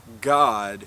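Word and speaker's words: גד: margin you will see gad which is pronounced god even by lexicon software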